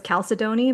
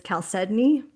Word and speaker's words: chalcedony: One that I said wrong myself was I thought it was chalcedony, but it's chalcedony. How No, is it? Mm-hmm. no. I like Yeah. Chalcedony better.